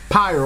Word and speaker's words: Pyre: their titles bastion transistor pyre or appear depending on how you pronounce it and hades yo